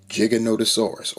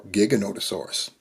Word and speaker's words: Giganotosaurus: And then bringing up the rear, we have Giganotosaurus or Giganotosaurus. It gets pronounced both ways.